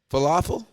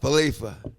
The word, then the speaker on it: Falefa: Also, the proper pronunciation for our Jays' new third baseman. Falafel? Kiner Falefa. Falefa.